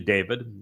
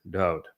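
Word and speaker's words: דוד: His name is Dowd. It is not actually David. It's Deleth would be pronounced Dowd.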